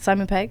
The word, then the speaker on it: Simon Pegg: Simon Pegg?